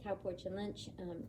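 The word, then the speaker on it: Tao Porchon-Lynch: And she has since passed, rest in peace, Tao Porchin Lynch. Amazing, amazing woman. If you don't know who she is, it's spelled Tao hyphen Porchon, Tao Porchin hyphen Lynch, Lynch.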